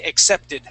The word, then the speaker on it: accepted: the word accepted so at the end that Ed D is going to make a an ID sound instead of just a D sound okay accepted one more time accepted